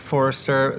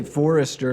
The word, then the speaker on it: Forster: You say Forrester like you spell his name wrong. It's Forster. Forster, like he's forcing us into that interview. No. S, not a C.